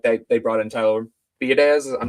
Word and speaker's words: Biadasz: So if they do bring in like they brought in Tyler Biadasz, I'm not sure if I'm even pronouncing that right, who the I think Commanders it's just released. Biotish. Biadish, yeah, I think that's right.